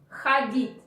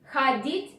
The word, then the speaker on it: ходить: This is why you pronounce a. Ходить. Ходить в кино.